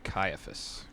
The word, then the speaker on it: Caiaphas: Elijah would know how to pronounce some of these words. I would say Caiaphas.